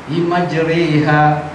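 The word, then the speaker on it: مَجْرِيهَا: Sebab itu ada macam contoh, Bismillah majriha, ikut betul ejaan biasa, majriha. Itu kalau orang tak guru, tapi yang guru dia tahu. Masa itu ada pengecualian. Bismillahirrahmanirrahim. Jeri, re jadi re, bukan ri.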